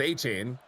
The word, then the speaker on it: Etienne: And Travis Etienne, we just learned that the ETN spelling is pronounced Etienne.